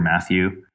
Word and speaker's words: Mathieux: then um if you Google my name Matthew and spell that out for us again uh yeah